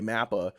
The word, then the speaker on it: MAPPA: But they got lucky, and they went to what's probably the best studio working today, MAPPA. Or MAPPA, depending on how you want to pronounce it.